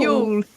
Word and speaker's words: Ewell: And she's based near you, Brona, in Ewell. Is it? Oh, y doesn't sound like It doesn't spell like that. Yule Yule.